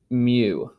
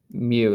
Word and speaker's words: mu: tail on it there and this is actually pronounced mu mu is how i pronounce that again we'll see